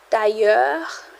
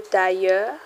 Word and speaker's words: tailleur: Tailleur, le tailleur. Remember, IL sounds like a Y.